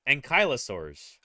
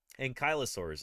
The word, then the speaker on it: Ankylosaurus: a little bit ankylosaurus ankylosaurus is how you probably because like ano it's like it implies that the the L is before the Y and it's not the Y is before the L ankylosaurus iosaur for example were